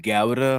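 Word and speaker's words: Gouda: to I like uh I think it's supposed to be pronounced GAA but I refuse to say that but guda cheese is is probably my favorite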